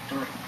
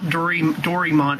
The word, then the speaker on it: Doraemon: Obviously evidenced by his latest video on him who didn't like Doraemon. It's not Doraemon, it's Doraemon. Even the Disney XD dub pronounces it like that.